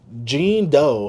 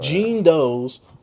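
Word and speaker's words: Jean Deaux: Gene Doe, I think that's how you say it. Gene Doe, because you know it's DEAUX.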